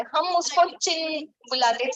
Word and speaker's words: Qin: नहीं, वो आप जिसको क्यों बुलाते हैं चाइना में, उसको प्रोनाउंस करते वक्त च बोलते हैं, चिन बुलाते हैं उसको.